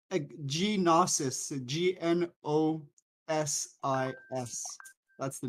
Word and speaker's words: Gnosis: Um, genosis. Genosis. Is that what you're talking about? It's nosis. The the G is silent.